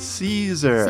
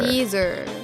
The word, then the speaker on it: Caesar: Right, the pronunciation is very different. It's called Caesar. Caesar.